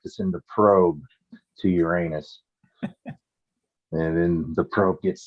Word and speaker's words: Uranus: it what about that Uranus is like urine I mean it's like it's a it's an unfortunate name is I actually like I like the way that our Argentinian friends uh pronounce it Uranus huh oh yeah that's